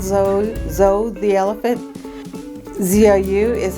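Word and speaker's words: ぞう: quilts this is called zo zo the elephant zou is how you say elephant in Japanese and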